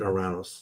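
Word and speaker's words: Ouranos: So, then the next planet is Oranis. The Greeks pronounce it Oranos.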